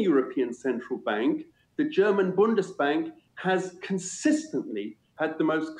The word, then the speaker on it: Bundesbank: I'm glad you mentioned Germany because there's actually a German bank, I believe it's pronounced Bundesbank.